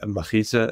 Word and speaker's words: mechitza: So I would say that the Hasidic bungalow colonies, the pool would have a machitza. Am I pronouncing that right? Machitza, yes.